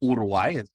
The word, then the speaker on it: Uruguay: mother is from Uruguay about Uruguay I'm told to pronounce it but Uruguay is how many Americans would read it um and I